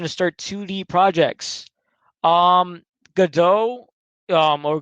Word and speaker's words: Godot: the best application to start 2d projects um godot um or godot how are you pronouncing g-o-d-o-t is an upcoming um game engine